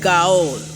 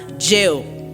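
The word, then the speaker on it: gaol: g-o-a-l a lot of people will be like girl or girl but that word g-a-o-l is pronounced as jill and then there is the bonafide bonafide is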